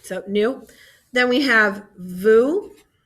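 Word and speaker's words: vous: new then we have vu same pronunciation just with a v and lastly they now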